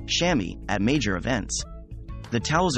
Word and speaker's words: chamois: Staying warm is also one of the reasons swimmers and divers use tiny towels called chamois, pronounced chamois, at major events.